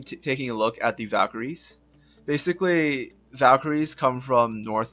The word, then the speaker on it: Valkyrie: a book report about Valkyrie now Valkyries are the pronunciation like the modern day pronunciation of the word word valkyria valkyria is actually the old North pronunciation I know Comas really